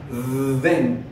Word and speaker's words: then: Y cuando ve la palabra luego o entonces, then, con una vibración.